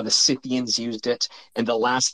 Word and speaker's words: Scythians: Did you say Scythians? Scythians were some of the first cannabis users. How did you spell that? Cythians, I think. Sith, like Scythians, but Scythians.